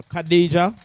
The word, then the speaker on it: Khadija: Khadija, that's how it is pronounced?